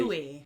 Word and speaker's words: buoy: We pronounce this just as you would Boy. pronounce the word boy, as in boy, Boy. and girl. In the sea. Buoy.